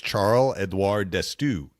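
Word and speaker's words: Charle-Édouard D'Astous: It was Charles Edoir Destu.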